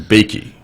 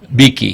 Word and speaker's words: Beakey: And again, it stars Ann, and you pronounce her last name Beakey. Beakey.